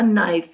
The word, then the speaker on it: knife: This is the knife. First you read and then you write on the dots. Knife. The first letter is silent. There is no sound of K, but here it comes K.